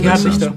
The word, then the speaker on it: Gerhard Richter: How do you pronounce Gerhard Richter? There you go. Gerhard Richter.